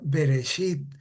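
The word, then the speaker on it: בְּרֵאשִׁית: La palabra que está en amarillo, que se pronuncia beresit, es eh es digamos muy importante porque ven ustedes las diferentes acepciones que tienen, ¿verdad?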